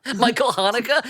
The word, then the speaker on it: Michael Haneke: Michael Haneke?